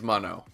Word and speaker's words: Mono: You got it right this time. You butchered it in the opening. It is Mono.